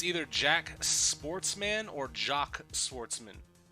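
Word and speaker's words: Jacques: seal the deal Jax Jax is pronounced like jock jock Sportsman okay pleasure to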